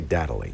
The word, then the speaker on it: Datally: It is time now to find out about your, I think it should be pronounced data ally, but I think they say Datally.